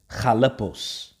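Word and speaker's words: χαλεπός: where there and agree the the greek is pronounced jalepos okay it's pronounced and it says hard to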